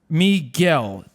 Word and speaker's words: Miguel: This is Miguel.